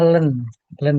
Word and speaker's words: ln: Itu itu bacanya len ya.